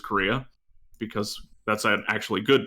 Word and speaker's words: Correa: Congressman Representative Lou Correa, I refuse to say his name like Korea, even though it is Korea, because that's an actually good person and author, and not a useless senator.